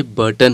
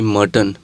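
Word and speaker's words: Burton: Sorry, ये बर्टन है ना कि मर्टन।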